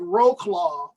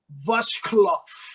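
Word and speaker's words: Wrocław: w-r-s-o-c-l-a-w oh and this we would call it roe claw but it's pronounced like vushcloth like that something like that i'm still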